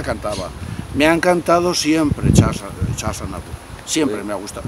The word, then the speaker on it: Charles: Charles Aznavour. Cada vez lo digo peor. Eso. A ver. Charles Aznavour. La S no se pronuncia. Charles Aznavour.